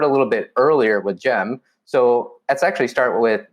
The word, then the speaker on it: Cem: little bit earlier with gem so let's actually start with jim carson what kind of name is jem and how how do you pronounce the c as a j and why does that